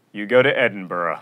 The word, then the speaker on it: Edinburgh: the epitome of mispronunciation you don't go to edinburgh you go to edinburgh it's not ethereal it's